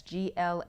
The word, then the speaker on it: GLAAWC: That's GLAAWC, and we pronounce it GLAAW-C.